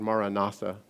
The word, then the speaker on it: Maranatha: It's the word Maranatha. And I say it on 4 syllables, ma-ra-na-tha.